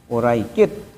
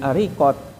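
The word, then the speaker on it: Uraiqit: kan di situ ee Abdullah bin Uraikit ini dibacanya Abdullah bin Ariqat ya. Jadi uraikit menjadi ya arikot misalnya.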